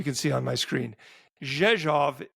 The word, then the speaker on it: Rzeszów: Rzeszów is spelled R-Z-E-S-Z-O-W, and it is pronounced Rzeszów.